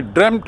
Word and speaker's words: dreamt: ये actually ड्रेम्ट है उच्चारण, ड्रीम से बना है।